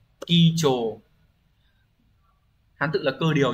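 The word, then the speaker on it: 基調: Từ này đọc là kicho.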